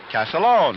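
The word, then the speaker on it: Castiglione: one but the way he says the family pronounce it is calone just like uh o c AA l o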